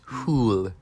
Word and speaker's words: hull: The bow is the front of the boat hull. Pronounced boat. Stern. The back of the boat. Hull. Pronounced hool.